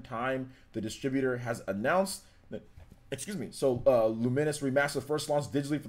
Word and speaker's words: Lumines: And yeah, it's Lumines. Yeah, Lumines. That's how you pronounce it. Well, the pronunciation is Lumines.